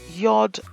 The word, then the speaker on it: Yod: Yod, the 11th letter. It is pronounced as Y, as in U.